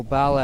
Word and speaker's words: Paulo: Is Junior Paulo, or Barlow as they pronounce it, going to keep pumping out good scores or no?